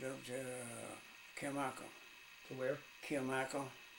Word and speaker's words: Kilmichael: Kilmichael. It's spelled just like it is, Kilmichael, K-I-L-M-I-C-H-A-E-L.